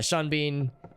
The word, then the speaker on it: Sean Bean: he's in is because his name is spelled like it should rhyme but it doesn't and his and him